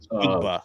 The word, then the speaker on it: Njigba: It's Kit Kat, Njigba. cheesecake. That's how you pronounce the name. Njigba. Najigba.